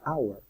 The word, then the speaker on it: hour: Se empieza con H, pero se pronuncia hour, como si empezara con A.